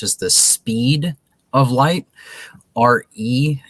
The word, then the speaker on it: Re: RE is how the Egyptians pronounced Ra. It was Re, and it was spelled RE in Egyptian for what letters they had for R and E.